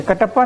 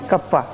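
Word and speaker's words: κ: इसको क्या बोलते हैं, एप्सिलॉन, ईटा, थीटा, आयोटा, कप्पा। ठीक है, कटप्पा नहीं, कप्पा, लैम्डा, म्यू।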